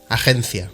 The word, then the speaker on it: agencia: In both languages, the letter G represents a soft G sound rather than a G when it's followed by an E or an I. But the soft sound is different in either language.